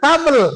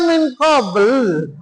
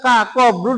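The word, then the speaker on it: قبل: Alladzina min kabel. Kok kabel? Kok kabel itu dari mana sih kabel? Maksudnya min qabl, tapi kok dibacanya min kabel. Tuh. Kenapa memang nggak ngerti? Dia qablu dibaca kabel.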